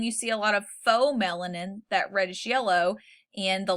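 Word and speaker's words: pheomelanin: There's eumelanin, that's spelled EU melanin, and there's faux melanin, PHEO melanin. Got to spell them crazy.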